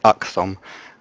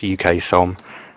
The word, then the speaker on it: UKSOM: listen to the broadcast, you refer to us as UKSOM, and it's actually pronounced UKSOM.